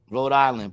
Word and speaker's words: Rhode Island: read this for me Rhode Island pronounced road is a state in